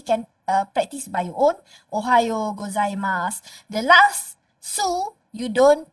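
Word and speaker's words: おはようございます: okay so maybe can practice by your own Ohio gozaimasu the last so you don't pronounce it so not Ohio gozaimashu the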